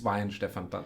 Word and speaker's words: Weihenstephan: saint stephen saint stephens and um so it's wayne stefan yeah okay uh we we get it a